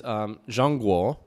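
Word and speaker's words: 中国: So China is Zhangguo.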